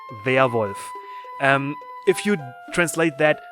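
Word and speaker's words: Werwolf: just a regular werewolf so werewolf in german is also werewolf it you just pronounce this pronounce it via wolf um if you translate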